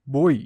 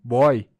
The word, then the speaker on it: boi: o ditongo é fechado boi pronunciamos boi não boy regra das oxítonas palavras